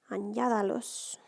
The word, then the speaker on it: añádalos: So our accent is going to go on that middle A of añada. Añádalos.